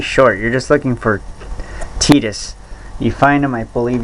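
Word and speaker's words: Tidus: but final fantasy 10 when i first pronounced his name and when i saw him in kingdom hearts number one i pronounced it titus but it's titus that's exactly like how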